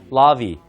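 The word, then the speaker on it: larvae: 라바고요 그다음에 여기가 오잖아요 그럼 여기 발음을 1호 발음해서 아까이이 사업처럼 여기 1호 바르면서 라디라고 반응합니다 라비 라비 예 그게 애벌레들 복수가 되겠습니다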